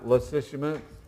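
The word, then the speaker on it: Lysimachus: he took Greece and Macedonia then we have lishus l y s i m a c h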